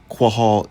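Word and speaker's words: קהל: times to translate the Hebrew word kahal, or kahal. But they actually do have it right. Quahal is how it's pronounced in the Paleo.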